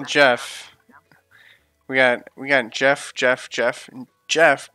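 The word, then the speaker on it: Geoff: And one that's spelled Jeff, like G-E-O-F-F. Yes. Still Jeff.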